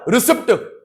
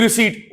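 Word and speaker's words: receipt: English में रिसीप्ट रिसीप्ट नहीं। देखो एक डिप्लोमेटिक गेम खेलनी है स्कूल में या कभी भी कभी कोई टीचर गलत प्रोनंसिएशन यूज करता है आप सही बोलोगे आप टोकोगे नहीं मैम सॉरी आप गलत बोल रहे हो बेटा रिसीप्ट ये बोलेगी रिसीट ओ समझ गई अच्छा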